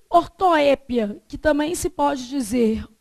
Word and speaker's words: ortoépia: Então, prosódia ou silabada trata-se do deslocamento inadequado da sílaba tônica. De uma palavra. E ortoépia, que também se pode dizer ortoepia, é um erro de grafia impulsionado pela pronúncia.